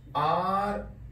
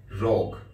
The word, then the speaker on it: rogue: This word is very similar, especially the last few letters, to the words like R-O-G-U-E. What is the pronunciation of this word? Rogue.